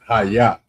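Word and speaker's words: היה: So, the next word is haya. And we already went over this one. It's spelled a hide h a y a y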